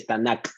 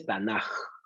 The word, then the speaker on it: Tanaj: Se pronuncia como una J. Entonces no se dice Tanakh, se dice Tanaj.